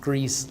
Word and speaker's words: Griess: almost 28 years and my last name is pronounced greece like the country thanks for asking before